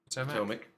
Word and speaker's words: Potomac: Potomac. Potomac. Thank you. I had to Yeah. guess that pronunciation.